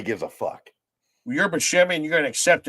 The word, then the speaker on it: Buscemi: It's Steve Buscemi is not even actually Steve Buscemi, it's Steve Buscemi. Yeah. That's actually how he says it. Right. But nobody gives a fuck. Well, you're Buscemi and you're going to accept it.